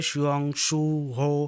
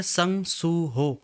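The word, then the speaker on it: Sung Suho: शुरू करती है जिसमें वो कहती है शंग शु हो तो उसे उसका नाम प्रोनाउंस नहीं करते आता। तो उसके वजह से एक बार फिर से उसे कहता है कि मेरा नाम है संग सु हो।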